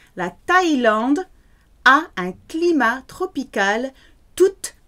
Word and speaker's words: Thaïlande: La Thaïlande, those two dots over the I say pronounce everything. La Thaïlande, there's no th in French, it has to be a hard T sound for TH. La Thaïlande a un climat tropical toute l'année.